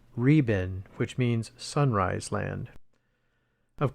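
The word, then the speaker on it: 日本: Here is your name, they pronounce, Riben, which means sunrise land.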